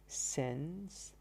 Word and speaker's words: synesthesia: Synesthesia, pronounced synesthesia or synesthesia.